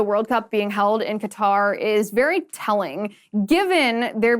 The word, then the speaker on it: Qatar: controversy surrounding the World Cup being held in Qatar or Qatar. Some people pronounce the name of this country in two very, very different ways. I'm going with Qatar because that's what I prefer to say.